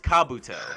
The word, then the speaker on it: Kabuto: no i said the same name i just pronounced it differently both times sorry but it's kabuto the guy with the glasses yeah he he